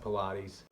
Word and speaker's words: Pilates: most recommended are called Pilates it spelled out it kind of looks like pilots but it's pronounced Pilates I'm just gonna name